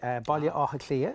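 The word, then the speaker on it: Baile Átha Cliath: Baile Áthaclia is how you say it in Irish.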